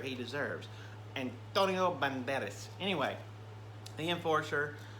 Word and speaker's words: Antonio Banderas: enforcer starring Antonio Banderas you gotta say it like that you can't just say Antonio Banderas he is a Spanish Legend from from Spain you've got to say you got to give it that that Flair he deserves and Antonio